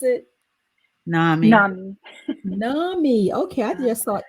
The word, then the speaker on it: NAMI: In my research, and I researched an organization called NAM, the National Alliance of Mental Illness. NAMI, yes. Okay, NAMI. yeah. And how do you pronounce it? NAMI.